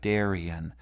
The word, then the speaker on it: Darien: Darien and notice that we don't end with a stress so much it's more like Darien and usually the iambic